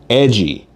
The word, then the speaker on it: EDJY: This is called Edgy. E DJ JY. Spelled like it's trying to be in a punk band.